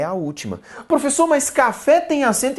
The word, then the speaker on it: café: por exemplo, da palavra café. Café é uma palavra oxítona, e por que ela é uma palavra oxítona? Ora, porque a sílaba tônica é a última.